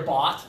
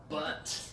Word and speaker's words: butt: But that is not your bot, that is your butt.